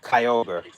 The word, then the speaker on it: Kyogre: more recent, but I do know Kyogre is said like that. Kyogre.